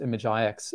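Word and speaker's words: imgix: I yeah I think it's pronounced image IX um I find that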